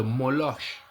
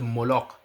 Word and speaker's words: Moloch: Mais il y a un démon au Nouveau Testament qu'on parle de Moloche. En français, moloche. En en espagnol, c'est Moloque. Moloche. Et ça s'écrit M O L O C H En français, c'est un